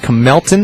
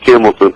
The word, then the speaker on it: Kimton: go to uh Camelton is that my pronouncing your name right uh it's kimton kimton I'm sorry my friend